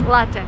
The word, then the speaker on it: latte: And don't say latte. This is like the worst thing I've ever heard. It's latte. Latte is an Italian word. So, if you drink coffee, it's latte, not latte.